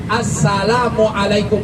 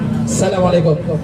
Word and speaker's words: Assalamualaikum: itu sudah sudah habis kita baca Assalamualaikum pakai AS jangan Asalamualaikum Asalamualaikum kadang kita kan beri